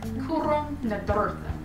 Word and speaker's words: Cúram Nádúrtha: I think it's actually pronounced Cúram Nádúrtha. Cúram Nádúrtha. No. Cúram Nádúrtha. My Kentucky accent can't do that. Cúram Nádúrtha. You have to roll your R's. I can't roll my R's.